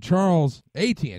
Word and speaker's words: Charles Etienne: Chris Bell and Charles Etienne.